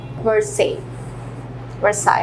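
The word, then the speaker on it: Versailles: Second जो है palace of वर्साई actually, इसमें एल जो है वो साइलेंट, ठीक है।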